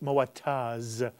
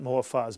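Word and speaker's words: Moataz: and I want to make sure I do pronounce it correctly it's mowett oz not more far as more tires hijazi by the way going in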